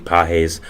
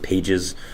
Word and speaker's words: Pages: was the Dodgers Andy peses I did pronounce it Pages um which was completely my fault I did not know as peses but I do know